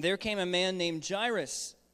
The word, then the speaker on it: Jairus: came a man named Jairus and that is pronounced correctly I did look it up it's jaress there came a man named